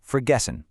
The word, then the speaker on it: vergessen: And finally, the German v often sounds like an English f like in vergessen, which means to forget.